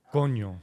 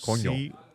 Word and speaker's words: coño: Can you help this gringo with the pronunciation? Coño. Coño.